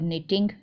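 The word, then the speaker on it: knitting: Nausheen dash her निटिंग, निटिंग होता है बुनना, के साइलेंट है इसमें।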